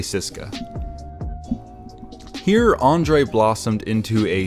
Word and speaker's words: CSKA: of people pronounced at CSKA Moscow but if you listen to actual Russians say it they just say Cisco so I'm gonna say Cisco here Andrei blossomed into